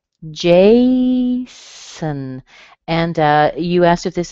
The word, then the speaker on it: Jason: Again, same thing. We have the strong J, and the O on the end is a schwa, so it sounds like Jason.